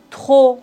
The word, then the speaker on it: trop: P comme beaucoup. Trop. On ne doit pas prononcer P final.